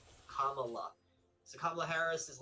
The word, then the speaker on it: Kamala: the way like page one she's like it's pronounced kamala like the pronunciation kamala so kamla harris is like steps in and